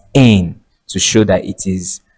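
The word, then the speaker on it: -ane: and then you add the suffix a N E which is pronounced as N to show that it is an alkan.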